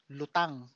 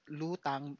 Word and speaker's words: lutang: the song is entitled lutang or lutang uh but before I so it e lutang or L lutang May mean two things if you pronounce it as lutang it means uh float as in you know